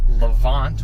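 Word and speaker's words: Levante: it is the maserati levant which is how you pronounce it it's not levanti it's levant um mazzari levant trafeo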